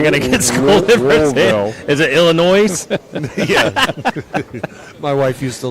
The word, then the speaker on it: Illinois: Sue berries actually from Illinois so I've heard about Illinois for years yeah no the s is silent foreign oh boy but